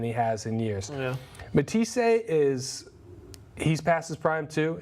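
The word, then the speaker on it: Matthysse: Quickly, Manny Pacquiao knocked out Matisse.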